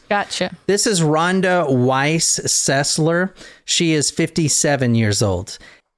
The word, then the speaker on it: Sesler: Ronda Weiss cesler now cesler is spelled s l r so I initially was searching like in the newspapers for two s's in the middle okay it sounds like it should be spelled s z s l e r